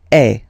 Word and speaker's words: es: And for tu, then you've got this combination of letters, okay, but then basically the sound you will pronounce or you will produce is e, okay, tu es, all right, je suis,